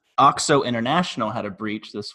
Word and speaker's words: OXO: about a five minute discussion on how to pronounce this name awk so international had a breach this week or at